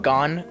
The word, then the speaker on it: Gon: I think it's pronounced Gon.